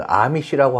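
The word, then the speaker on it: Amish: 아미시는 우리 일부의 그 미국에서 생활하는 교포분들 보면은 언제 어느 기회에 이렇게 보게 되고서는 A로 표현되니까 에미시라고 그렇게 발음하는 사람들이 대부분인데요. 에미시가 아니라 아미시로 발음합니다. 영어식이 아니라 아미시.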